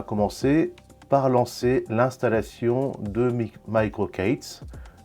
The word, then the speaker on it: MicroK8s: c'est micro K s on le prononce à l'anglaise microocates moi je vais dire